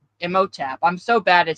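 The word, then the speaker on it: Imhotep: It's Emoteap. Emotap.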